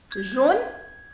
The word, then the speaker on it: jaune: Now the pronunciation. Jaune, jaune, jaune et jaune. All four of them, the pronunciation is same.